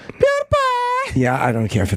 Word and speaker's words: PewDiePie: There PewDiePie. That's not how you say it. PewDiePie.